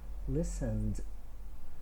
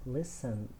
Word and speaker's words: listened: after me called arrived listened so we don't pronounce the letter e it's not listen man it's listened because the regional verb